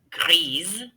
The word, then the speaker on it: grise: And for two of them, it changes the pronunciation. Répétez. Vert, verte. Bleu, noir, gris, grise.